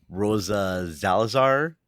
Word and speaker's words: Rosa Salazar: It's a animated series on Amazon Prime with Rosa Salazar You said it right.